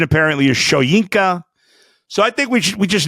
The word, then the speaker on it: Shoyinka: It's spelled like it should be Shoyinka. The pronunciation apparently is Shoyinka.